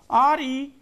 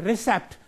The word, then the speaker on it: receipt: Please read this word, R-E-C-E-I-P-T. No, it's receipt. The word is correct pronunciation is a receipt, not as a recept, as mostly the people say.